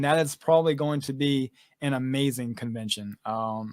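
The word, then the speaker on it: Biehn: definitely check her out uh you have michael bean is that how you say his name yep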